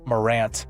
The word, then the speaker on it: Morant: You do have some answers with your Ja Morant, rhyme with drama.